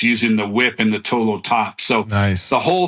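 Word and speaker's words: 陀螺: I don't know if you guys know, Tuolo is how you pronounce it in Mandarin.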